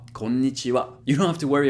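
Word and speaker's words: こんにちは: japanese alphabet called hiragana you might have noticed that the last character is ha but in this case it's a particle and therefore it's read konnichiwa you don't have to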